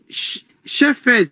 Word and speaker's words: shepherd: Vous le prononcez en deux temps. Shep, shep. Et après, vous dites herd. Shep, herd. Shep, shep, herd.